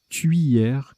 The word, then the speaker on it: tuyère: Je pense qu'ils ont voulu dire tuyère comme cuillère, en fait. C'est pas oui, c'est oui. Voilà, bon, c'est compliqué l'alphabet phonétique international. Bref, c'est la tuyère, donc, comme tuyau.